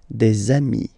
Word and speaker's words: des amis: And if you make the liaison, so the link between the two, you will get des amis. Okay, des amis.